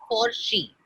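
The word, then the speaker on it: Forsch: he called it forsh it was a play on porsche p-o-r-s-c-h-e but the spelling was forge f-o-r-s-c-h and he pronounced his for she okay and um we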